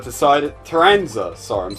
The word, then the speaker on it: Taranza: Tanzima decided... Taranza. Sorry, I'm saying his name wrong.